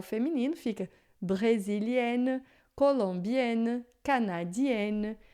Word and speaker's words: brésilienne: Elle est brésilienne, né? Então eu tenho o ENN, aí vai ficar mais aberto, o som vai ficar brésilienne, não é brésilien.